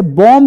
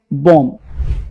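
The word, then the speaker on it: bomb: अब देखो यहां पे लिखा है ना एम के बाद टी था बी बी ओ एम बी है ना इसे बॉम्ब नहीं पढ़ेंगे बॉम्ब टॉम नहीं टॉम कॉम्ब नहीं कॉम डम नहीं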